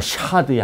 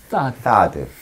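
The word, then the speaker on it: THAAD: 이른바 샤드의 한반도 배치 문제 이런 것까지 들먹여지고. 샤드라고 하면 안 되고요. 혀를 이 사이로 내민 다음에 사드.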